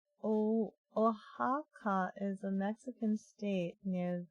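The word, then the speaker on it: Oaxaca: why what you're laughing so hard you mean ohaka ohaka what does that mean ohaka you thought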